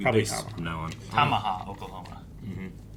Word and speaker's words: Tamaha: Tamaha, Oklahoma. Mm-hmm. It's almost like tomahawk. Tamaha is like more like Pacific pronunciation. Tamaha.